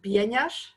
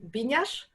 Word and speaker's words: Bieniasz: My name is Anna Bieniasz. I would also accept that pronunciation, Bieniasz.